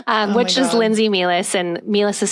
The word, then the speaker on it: Meehlies: out my full name um which is Lindsay melis and meis is spelled funny so just look it up on